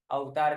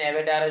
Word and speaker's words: avatar: Here, HR manager in his new avatar, अवतार नहीं बोलते, इसका प्रोनाउंसिएशन एवेटार होता है।